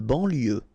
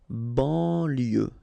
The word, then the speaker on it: banlieue: De banlieue. Okay, final E not pronounced. So I-E-U, I-E, L, lieu, banlieue. De banlieue.